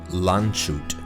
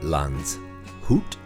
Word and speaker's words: Landshut: place called lanzhut and americans always call it lanchut or lanchat if you're pronouncing it strictly american landshut but it's not shoot it's it's not lanchut it's lans hoot this thing just